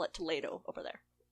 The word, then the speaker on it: Toledo: I think it's Toledo. It's pronounced Toledo from everything I've seen would be silly, from everything I've heard.